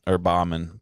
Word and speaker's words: Baughman: It's spelled Baughman. Baughman. It doesn't look like Baughman, but that's how it's said.